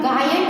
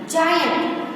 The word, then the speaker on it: giant: जी का तो ज या ग दोनों से प्रोनाउंसिएशन होता है, लेकिन यहाँ पे हम गायंट नहीं बोलेंगे, क्या बोलेंगे? जायंट।